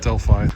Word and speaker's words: Delphi: Actually, this is pronounced Delphi, not Delphi, so I was wrong.